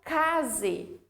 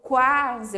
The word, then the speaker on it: quase: Então, eu não falo case, tá? Falo quase, eu pronuncio o.